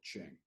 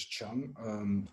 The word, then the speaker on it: Cheng: My name is Professor Cheng, or you can pronounce as Chang.